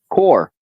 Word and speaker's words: Corps: a veteran life core core the p is silent right veterans life core